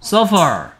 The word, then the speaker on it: suffer: suffer. suffer의 뜻은 비교죠. 비교해서 suffer는 고통 받다 라는 뜻입니다. suffer는 식사고요. suffer는 고통 받는 거야. 그러니까 P 발음하고 F 발음하고 잘 구분해야 되겠죠.